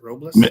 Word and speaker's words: Robles: Is it Robles? Man, you said it better than most. Yeah, man, it's good. You didn't roll the R, but man, I don't expect you to roll the R, but it's fine.